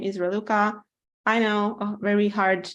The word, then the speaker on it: Raluca: I want to introduce myself my name is reluca I know a very hard name to to pronounce but bear with me you can also